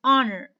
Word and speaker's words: honor: going to tell you in english we have few words that i am going to use with it and like the words honor shut up shut up okay honor i have the word hour be i have the word honest so why i'm going to use before it and why and the silence and i'm going to